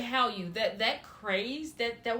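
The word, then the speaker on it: Hallyu: exactly what are they the how h-a-l-l-y-u does anybody else know yeah so I was pronouncing correctly how you that that craze that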